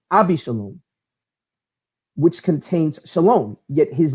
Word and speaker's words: Shalom: of David some a be Shalom which contains Shalom yet his name was rendered Ibis alone in